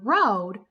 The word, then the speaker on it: road: For example, in that word road, we noticed that that A was silent. We didn't hear that A making any sounds.